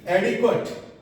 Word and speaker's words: adequate: ए से ऐनक बोलते हैं और ये अ दोनों ही जगह लेटर ए है, लेकिन साउंड क्या है? अ. इसकी करेक्ट प्रोनाउंसिएशन हो जाएगी एडिक्वेट, एडिक्वेट.